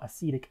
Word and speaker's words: acetic: Since acetyl is derived from acetic acid, the way we pronounce it, acetic, is how, or I should